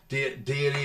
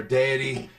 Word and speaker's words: Deity: microphone that comes with the kit so again deity or deity whichever you want to say pronounce it they are a great company um